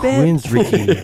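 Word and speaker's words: Queensrÿche: standing there Queens re you pronounce this queen you listen to that Queens Richie B Queen richy they're seriously good dude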